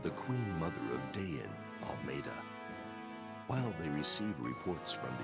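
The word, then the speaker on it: Almedha: Apparently it's pronounced Almeida, not Almeda, so I apologize.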